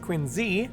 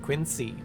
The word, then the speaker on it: Quincy: president, John Quincy Adams, is supposed to be pronounced Quincy, not Quincy.